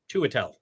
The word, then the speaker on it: Chiwetel: Chiwetel. Chiwetel, thank you. I always do that phonetically because I had to spell it a lot.